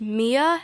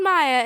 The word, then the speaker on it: Maya: roll, and she said, "Is your name pronounced Mia?" And I'm like, "No, it's called Maya." And she's like, "No, it's pronounced Mia." And I'm pretty sure it's pronounced Maya, and she was just making sure that my name was pronounced Mia when it really wasn't.